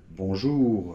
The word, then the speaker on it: bonjour: vous savez qu'en général, les consonnes finales ne se prononcent pas. Mais il y en a certaines qui se prononcent, et le "R" fait partie de ces consonnes qui se prononcent. Alors par exemple, dans les verbes comme : finir . Ou tout simplement, le mot : bonjour . - Bonjour. - Voilà. Alors, là en fait, on l'entend très légèrement puisque après, il